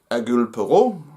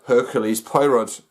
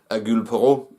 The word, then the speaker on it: Hercule Poirot: do not know that the French speakers, they cannot pronounce the H, so they call him Hercules Poirot.